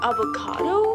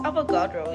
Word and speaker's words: Avogadro: Today we're gonna be talking about the avocado law. Girl, it's Avogadro. You gotta say it right.